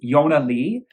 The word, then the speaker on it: Jonna Lee: music under this moniker it is yona lee who also goes by the independent stage name of yona lee but in one word and with an eye instead of a j for the swedish pronunciation of her name and her producer claise